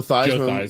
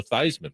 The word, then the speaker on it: Theismann: He actually encouraged that because it sounded it like rhymed Heisman. like Heisman, and it was part of the Heisman campaign, and now he became Joe Theismann.